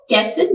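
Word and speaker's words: castle: letters पाए जाते हैं फर्स्ट कैसल जिसमें टी साइलेंट है सेकंड और जिसमें एच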